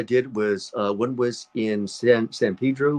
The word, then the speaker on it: San Pedro: Um, Last couple of films I did was one was in San Pedro, where they say San Pedro in my the way I would pronounce it, San Pedro. Since I have a Spanish tongue.